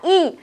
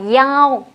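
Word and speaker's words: 一: đọc cho cô là y, phải đọc cho cô là yao. Các bạn ghi cho cô này, y trong mã số thường đọc là yao.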